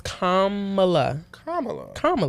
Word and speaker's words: Kamala: They don't know how to pronounce her name. That's actually getting on my nerves. Her name is Kamala, that's it.